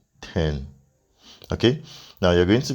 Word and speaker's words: t3rn: be able to redeem 10 now TRN is pronounced 10 okay now you're going to be able to